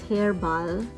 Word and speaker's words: Hair Bal: If this is just my first impression of what Hair Bal, it's spelled hair and B-A-L, so it's Hair Bal.